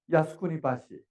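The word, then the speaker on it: 靖国橋: We can have a Jeonggukgyo, but if we pronounce this in Japanese, it is Yasukuni Bashi.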